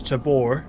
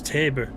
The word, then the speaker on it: Tabor: I've read that as Tabbor, but it's Taber.